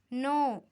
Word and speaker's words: know: No. We are pronouncing no. K-N-O-W. No and N-O. No.